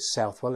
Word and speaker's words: Southwell: We call it Southwell, and hence we've got Southwell Park Drive or Southwell Park Road. And in fact, it should be pronounced Southwell, because they originated in a town called Southwell, just east of Nottingham. And in fact, there's a race called there, and it's pronounced Southwell. But of course, we down here will call it Southwell Park Road.